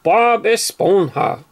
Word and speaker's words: Bob Esponja: SquarePants they call it Bob is bonha yeah in Spanish the J's pronounced like a h i know that much